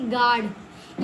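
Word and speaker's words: guard: देखो इसको हम जी यू को हम गुड क्यों नहीं पढ़ते? गुड। गुड नहीं पढ़ते। इसको हम पढ़ देंगे गार्ड। यू भूल जाओ जी यू ए है ना इसलिए हम यू भूल जाओ ए गार्ड जी यू ई है तो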